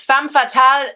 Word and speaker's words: femme fatale: they like to not pronounce some things of their words. So it's femme fatale, even though it's like written with an Okay.